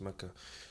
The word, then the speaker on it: Mecca: I did my middle school because I finished elementary in Saudi Arabia, in Mecca, the city Mecca, or Mecca, as it's actually pronounced Mecca.